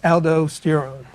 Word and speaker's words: aldosterone: And the next one we need to talk about is aldosterone, or aldosterone. It's pronounced both ways.